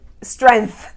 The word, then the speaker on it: strength: to the G kotora strength but there's a G in there strength strength strength that's right when some Americans don't pronounce the G sound it will be incorrect it'll sound like this